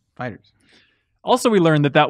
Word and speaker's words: FighterZ: pronounce it yeah and you've been saying it wrong Hansen fix me it's Dragon Ball fighters fighters also we learned that